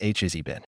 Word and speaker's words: Hazbin: Sir, once again, it is pronounced Hazbin. You know? Has-been? Meaning no longer popular, successful, or happy.